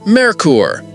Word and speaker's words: Merkur: Merker, pronounced Merkur.